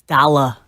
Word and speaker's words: Dolla: It's Dolla. Whatever. You're pronouncing the R too much.